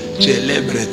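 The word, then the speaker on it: celebret: dois brandir le célbret c'est comme ça qu'un prêtre prononce célbret mais lui a dit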